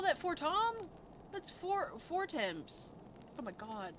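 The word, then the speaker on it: Fortemps: Forttom. They call that for Tom. That's foreimps. Oh my god, they pronounce things so stupid.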